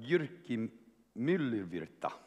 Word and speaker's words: Jyrki Myllyvirta: But Jyrki Myllyvirta, the mayor of Finland, of Lahti, Finland. He said I was pronouncing his name reasonably accurately, and he's been the mayor of Lahti for the last few years.